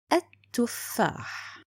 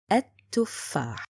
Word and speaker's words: التفاح: The second point, it's written but not spoken. التفاح.